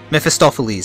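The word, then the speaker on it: Mephistopheles: Gods Zan and miss how' you pronounce his name again mephistophiles that's the way you pronounce it they're at odds zann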